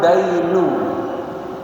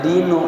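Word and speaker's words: الدَّيْن: Fala yamna'ud dainu. Bacanya jangan dinu, kalau dinu agama. Ini dain, hutang.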